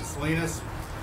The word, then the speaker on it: Salinas: The California Rodeo, as they pronounce it, Salinas, is one of the greatest outdoor rodeos in the world.